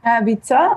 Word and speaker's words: Vica: Vica, actually. Yeah, Vica, you pronounce it.